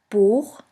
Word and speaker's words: Buch: After the letter A, O, U, and AU, it's pronounced like the guttural CH in the Scottish loch.